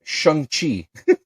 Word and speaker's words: Shang-Chi: It's pronounced Shang-Chi.